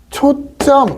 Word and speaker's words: 초점: 그러면 우리가 읽을 때 발음은 어떻게 되냐면 분명히 발음은 초점 이게 돼요.